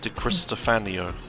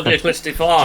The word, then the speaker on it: Di Cristofano: Oh, It I says that- added an I in there. Why did I do that? Oh, fucking stupid dyslexia. Lorenzo Di Cristofano.